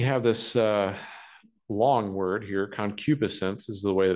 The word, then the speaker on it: concupiscence: Then we have this long word here, concupiscence is the way that it's pronounced.